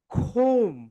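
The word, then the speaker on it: comb: My dear soldiers এমবি শেষ লেটা হচ্ছে এমবি তার মানে এখানে বি এর উচ্চারণ হবে না বি এর উচ্চারণ হবে না এখানে রাইট প্রনান্সিয়েশন কি হবে বলতো বল খোম সবাই বল খোম খোম খোম হোম মানে হচ্ছে চিরনী।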